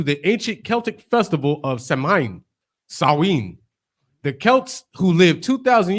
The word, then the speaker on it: Samhain: Samhain. Yeah. SOWIN. Right. It's spelled SAMHIEN. Just scroll up. Samhain. Yeah. AIN. Samhain. Right, but it's pronounced as Samhain.